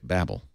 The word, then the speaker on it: Babel: ancient history and just spell it Babel but pronounce it Babble Babble yeah that's what I hope